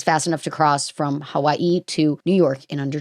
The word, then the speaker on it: Hawaii: Hawaii or is it Havi? Do you pronounce the W in a I'm thinking about it in like a European way. Hawaii, I think.